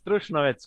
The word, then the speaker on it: Trušnovec: In this episode, I have Trušnovec. Did I pronounce that right? Yeah, it's Trušnovec, quite right.